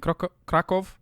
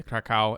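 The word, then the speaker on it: Kraków: Well, they pronounce it Krakow. Okay. But a lot of people say Krakow.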